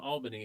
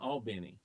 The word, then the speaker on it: Albany: Now When I listen, get in Georgia, it's not called Albany; it's called Albany. Oh. Say it right, Albany.